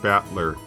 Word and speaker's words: Battler: Whereas my given name, Babadoobadoo, is made up of the characters for fight and person, and it's pronounced Battler.